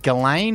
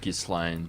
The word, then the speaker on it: Ghislaine: break things up and galain Maxwell has asked her guards why her jail cell has been covered in plastic and left unlocked I believe it's pronounced Gan very confusing yes the